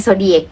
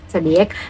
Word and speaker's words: Xodiac: satu boyfriend yaitu adalah Zodiac bacanya zodic kan zodic Nah em kita lupakan